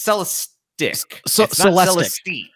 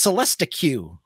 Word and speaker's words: Celestiq: am i saying that it's sell a stick when you see it when i first saw it it's like okay it's spelled c-e-l-e-s-t-i-q so when i first saw it i was like oh it's celesta q or so no so don't don't think